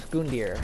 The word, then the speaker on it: Gundyr: Anyways, now it's time for Iudex Gundyr. And yes, that is how you pronounce it.